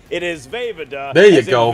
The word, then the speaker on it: Vejvoda: I can now pronounce Jim's last name. It is Vejvoda. There you go. Vejvoda.